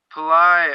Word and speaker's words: Pillai: from Pillai Center dot-com Pillai I believe is how you say the name it's a dr. Pillai or a po P I ll AI Pillai Center dot-com the our